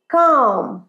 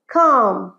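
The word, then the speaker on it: calm: প্রানসিয়েশন হয় না সি এ এল এম কিন্তু উচ্চারণ কি হবে কাম বল সাথে কাম আরেকবার কাম গ্রেট প্লিজ বি কাম শান্ত হ যদি বলি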